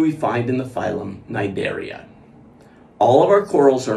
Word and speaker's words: cnidarian: funny name it has the word cnidarians is pronounced as if the letter c was not there silent when you say